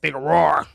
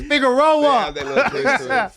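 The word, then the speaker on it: Figueroa: But I be saying Figaro. Figurore all the time, It's Figaroa. It's Figareroa, Say that Every syllable in that word.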